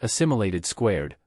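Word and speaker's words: Assimilation²: the crossover Saga titled aim imation superscript 2 pronounced assimilated squared focused on the 11th Doctor Amy Pond and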